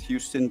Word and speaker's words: Houston: Greenwich, and when you go to Houston Street, it's spelled Houston, but we pronounce it Houston for some fucking reason.